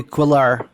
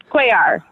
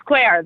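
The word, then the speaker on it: Cuellar: I believe it's pronounced Henry Quillar. Quaar Quar. I do like that though. It's Quar though.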